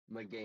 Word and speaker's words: Meganium: It's Megamanium, I believe is how you say this one, right? Meganium. Meganium. Correct us Meganium.